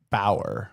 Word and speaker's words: Bower: Uh, how do you say your last name? Bower. Bower. So, I did do it right yesterday.